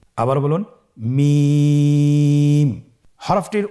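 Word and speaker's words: ميم: মিম হরফটি উচ্চারণের ক্ষেত্রে অবশ্যই বারিক হবে, পাতলা হবে এবং 3 আলিফ টেনে উচ্চারণ করতে হবে। আমার সাথে আরেকবার চেষ্টা করুন। মিম। আবার বলুন মিম।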